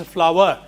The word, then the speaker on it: flour: This should also be pronounced as flour. I've heard many people say flour. They go to flour mill. Flour is this, F-L-O-O-R.